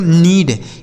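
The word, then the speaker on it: knead: तो देखिए के साथ एन है ना तो के साइलेंट होगा। इसे पढ़ा जाएगा दोस्तों नीड।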